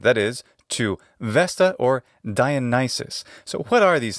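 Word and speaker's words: Διόνυσος: That's his name in the classical Attic pronunciation. Dionysus. We call him Dionysus. In Latin, his name is Dionysus. What changed? Well, Latin doesn't have pitch accent, like ancient Greek. It has instead stress accent.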